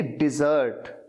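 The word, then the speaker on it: desert: बोलते कैसे हैं? डिजर्ट, डिजर्ट। अच्छा, जो पहला वाला है वो है डेजर्ट, डेजर्ट, उसका मतलब होता है रेगिस्तान।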